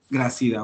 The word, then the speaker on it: Gracida: Gracida o Grácida, no sé cómo se pronuncie tu apellido, porque no veo aquí un acento. Eh, así está bien Gracida.